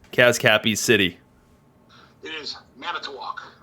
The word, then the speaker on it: Manitowoc: people can hear you tell us how to pronounce kaz cappy's city it is manitowoc man it's a walk all right i got it are you going